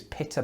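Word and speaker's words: pitta: spell them differently so in britain we spell the word p-i-t-t-a and that informs the way i pronounce it which is pita bread and i say pita with one tea but i don't understand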